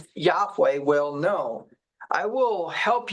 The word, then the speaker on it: Yahweh: That would be a proper pronunciation of Yahweh.